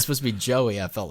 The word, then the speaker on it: Jowy: to bang or or joey which is your your best friend in sweden too but it's spelled j-o-w-y for some reason so at least it's not like okay that meant that that's like jowy but yeah that and